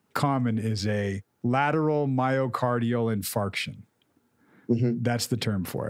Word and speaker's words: infarction: Infraction. I have a heart infraction. You know, an infract. Okay. Yeah. Lateral infract. Right. But it's a, it, how do you say it? Infarction. Infarction. It sounds like infart.